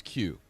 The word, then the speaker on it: Qos: But really the way it's spelled is Qos QoS and it's just pronounced Q though.